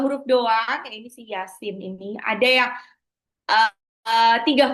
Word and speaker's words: Yasin: Jadi bacanya bukan ya pasti salah. Ya itu cuma dua harakat. Sinya yang enam harakat. Yasin. Yasin gitu ya. Jadi yanya dua harakat, sinnya baru enam harakat.